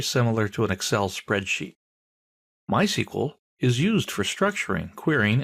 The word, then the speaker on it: MySQL: So, what is MySQL? Well, it's a version of SQL. We'll talk about that in a minute. People in the know don't say MySQL.